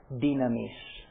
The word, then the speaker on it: dunamis: brief the word is Dunamis I prefer to use the modern pronunciation in Greek seems to go better it's easier to read it that way dean amis from which we get